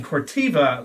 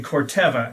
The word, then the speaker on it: Corteva: I've also been made aware that I was mispronouncing Phytogen's new corporate parent company name, as I was saying Corteva last time on the podcast. It's actually Corteva, new name out there,